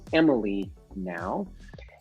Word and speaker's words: mlenow: It's mlenow.ca. That's pronounced Emily now.